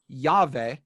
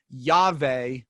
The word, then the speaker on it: Yahweh: Although, and here's one of the things you have to keep in mind for this conversation, W is pronounced V.